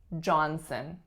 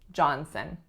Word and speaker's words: Johnson: John Sun we reduced that second syllable to schwa and we get some Johnson Johnson next up Williams Williams